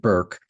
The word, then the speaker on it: Bourke: I've been calling it Burke for a dozen times and I have to keep remembering that she pronounces it Burke. Um, Anna Burke, burke ke.